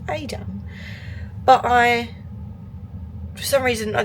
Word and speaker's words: Edam: It was the windmills and Edam, which is actually pronounced Adam, but for some reason I just didn't really fancy it.